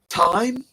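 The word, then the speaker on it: thyme: one uh origano again popcorn time which is spelled t h y m e I always thought you spell time like time but that was my naivity because I didn't know i' never seen it written down before but when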